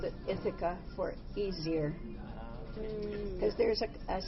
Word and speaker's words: Ithaca: It's pronounced Ithaca. Ithaca. Ithaca. It's a Greek island.